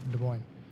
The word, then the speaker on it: Des Moines: Interstellar Clash was, is it Des Moines? Am I pronouncing it correctly? Yeah, Des Moines.